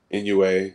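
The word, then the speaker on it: Inoue: how he approaches it so usyk Terence Crawford inua I I'm sure I mispronounced that oh you got it right you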